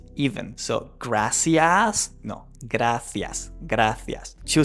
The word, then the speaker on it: gracias: So, in Spanish, the standard way to pronounce the C is with the th sound, which means that you say gracias. Gracias. You can also say gracias.